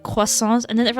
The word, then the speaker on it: croissant: Because that's how I pronounce croissants. I pronounce it like, it's more like the French way of doing it. So I get make fun of. Because like, whenever there's a French loanword, I tend to pronounce it more like the French way, a little bit, but not exactly.